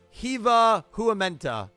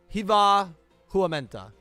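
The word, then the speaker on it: Hyvää huomenta: I love the 2 dots over the A's. That means you have to pronounce it like right? Hiva Huamenta. Hiva Huamenta. Hiva Huamenta. Now I'm saying it like in Italian.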